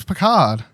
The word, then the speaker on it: Picard: It's Picard. Picard. What are you, Pikachu? Picard. Well, they all pronounce it.